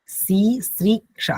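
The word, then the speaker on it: সিসৃক্ষা: সৃষ্টি করার ইচ্ছাকে কি বলা হবে সিরিক্ষা এইটা সিরিক্ষা এরকম উচ্চারণটা হবে ঠিক আছে ইয়েস স্যার হ্যাঁ সি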